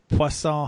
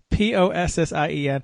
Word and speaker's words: Poisson: It's just it's spelled we just make you read that. Possien. They should make it Poisson, like French for fish. That would be funnier.